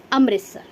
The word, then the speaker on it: अमृतसर: है इसको, ठीक है, अमृतसर भी बोलते हैं कई लोग, है ना, अमृतसर भी बोलते हैं इसको, अमृतसर वैसे इसकी सही प्रोनाउंसिएशन है, ओके, अमृतसर।